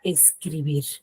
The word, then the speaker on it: escribir: Lo mismo sucede con la palabra escribir, ¿no? Tiene la mayor fuerza de voz en la última sílaba, que es bir, pero no la tildo porque termina en R.